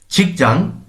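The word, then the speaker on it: 직장: কর্মস্থলের ভেতরের ভাষার শিষ্টাচার ছিচাং কর্মস্থল বাচ্চের পর আসার কারণে আমরা চ এর মত উচ্চারণ করব ছিচাং কর্মস্থল ভেতরে কর্মস্থলের ভেতরে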